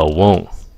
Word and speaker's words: won't: So cái will cái xong rồi on. Ok. Phát âm gì đó? Won't. Này. Nó nhanh. Won't. Bỏ cái âm T ra.